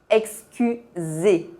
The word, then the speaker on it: excusez: Para excuser, você pode ver que esse verbo se termina com EZ. Essa terminação tem o mesmo som que o E fechado. Excusez.